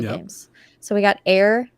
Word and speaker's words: Aer: So we got Air, Memories of Old, and it's spelled AER.